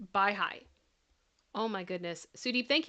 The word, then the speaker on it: Baha'i: Babi is pronounced Baha'i.